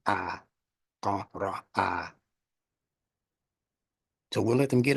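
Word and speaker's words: اقرأ: So it's from Qaf to Ra to A. That's the pronunciation. A, Qa, Ra, A.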